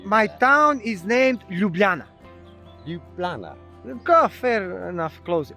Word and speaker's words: Ljubljana: You gotta say L-J-U. Lju. Lju. Yeah. Say Yeah. Yeah. Lju. Yeah. Ljubljana. Ljubljana. Ljubljana. It's good. I try it faster. Ljubljana. Ljubljana. Close enough. But you can't pronounce J.